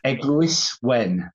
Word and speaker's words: Eglwys Wen: So it's called Eglwys Wen.